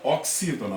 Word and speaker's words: oxítona: Imagine aqui a palavra oxítona, por exemplo. O acento não está aqui, então essa aqui é minha sílaba tônica, o si, o x com som de S.